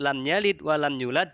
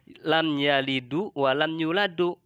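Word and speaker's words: لم يلد ولم يولد: alhamdulillahi yang dibaca alhamdulillahu, atau lafadz lam yalid wa lam yulad dibaca lam yalidu wa lam yuladu.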